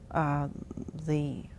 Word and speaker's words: Mi'kmaq: The indigenous people, Mi'kmaq, I still have trouble with the new pronunciation of that.